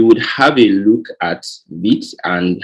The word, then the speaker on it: Vite: through right okay so that's the wrong pronunciation it's actually beat we'll be going to